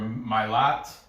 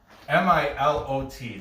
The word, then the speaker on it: Milot: Okay, the player to watch over at Werder Bremen is Milo or Milot. It's Milot. That's his first name. I'm gonna say the T is silent and say Milot. Milat.